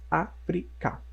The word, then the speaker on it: África: África. A é a sílaba tônica, ou seja, consequentemente, existe a acentuação por ser uma esdrúxula, independente da letra que termina ao final da palavra.